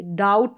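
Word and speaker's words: doubt: बी का sound नहीं हम प्रोनाउंस करेंगे डाउट बोलेंगे ना कि डाउट बी का साउंड नहीं डाउट हो गया अब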